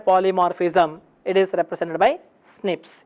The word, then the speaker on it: SNPs: it is represented by snips s n IPS single nucleotide polymorphism so open snps however once again abbreviation it is snps however while pronunciation it is represented as snips one of the important